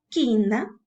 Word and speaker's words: quina: Por ejemplo, si tú tienes la palabra quina, aparentemente tienes una secuencia vocálica. Pero, ¿qué es lo que ocurre cuando tú la pronuncias? Dices ki y la U no suena.